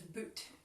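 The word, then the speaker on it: Butte: Apparently, Crested, it's pronounced like shoot, so it's boot.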